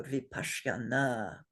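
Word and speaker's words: vipaśyanā: This particular S is actually a palatal S. So to be absolutely correct, you would say shra. But this is really hard to do in most of our languages. So we may soften it as we use it to just a regular shra. So vipashyana is a good way to pronounce this word.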